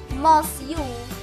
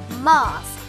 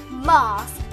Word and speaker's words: mosque: prompting many to say most you or most you. But the UE is actually silent. Mosque. Mosque.